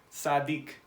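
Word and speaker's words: צדיק: So if we put it together, we get sadik, sadik. That would be how you pronounce this word, sadik.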